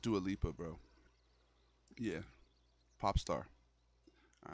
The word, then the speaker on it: Dua Lipa: I think it's pronounced Dua Lipa, bro.